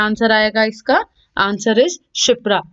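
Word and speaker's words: Kshipra: Answer is शिप्रा। इसमें के जो है आपका साइलेंट है।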